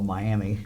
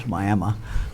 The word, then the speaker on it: Miami: we we had uh we went into what we would call Miami uh Oklahoma and my Mi I and uh the folks there very quickly told us that we were mispronouncing it it was myma and uh so that